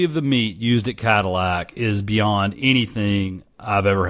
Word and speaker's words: Cattleack: Number 2 on my list is Cadillac Barbecue. Cadillac Barbecue is spelled a way you've probably never seen Cadillac spelled. It is Cattleack.